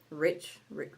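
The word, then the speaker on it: Reichs: his last name um Rex Rick or r e i c HS Rich yes I cannot remember what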